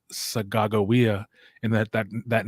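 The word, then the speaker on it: Sacagawea: picked up the person that you would call sucka joaya but her name is actually pronounced sagagowia and that that that name is actually a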